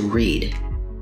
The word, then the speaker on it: read: Read and read are spelled the same, but they sound different. Red can be spelled like the color red, but in this context, it needs to be spelled like red for reading.